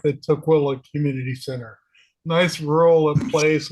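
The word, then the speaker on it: Tukwila: May 2nd or 3rd at the two, how does it pronounce again? Tquila.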